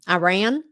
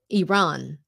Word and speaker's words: Iran: when President Bush used to call it um Iran right and so there are many people who still who called it Iran um but on the news I would pronounce it Iran just because it's more correct so even in